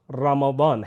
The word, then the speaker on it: رمضان: Calendar کا نواں مہینہ ہے جس کا صحیح تلفظ رمضان ہے۔ اس کی ادائیگی کے وقت اس بات